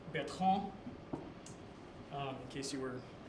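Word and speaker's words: Bertrand: Bertrren, it's actually pronounced Betron.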